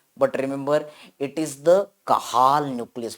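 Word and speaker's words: Cajal: yes it is written in Hindi as the kajal but remember it is the kahal nucleus pronunciation is the kahal you no yes this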